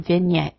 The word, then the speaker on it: vignette: It will have the normal sounds of G or N in Latin, like in signal, but sounds like NY in French, as in vignette or poignant.